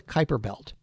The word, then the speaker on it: Kuiper belt: is sometimes called the Kuiper belt I know it's spelled Cooper Beltre that's something but it's called the Kuiper belt and what we think is a lot of